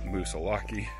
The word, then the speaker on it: Moosilauke: i guess just googled it and the correct pronunciation is musa laki so yeah i'll try to pronounce it correctly